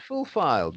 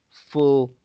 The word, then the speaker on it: fulfilled: of those things which have been full filed, Not full filed because just before the last two letters ED, there is a double L.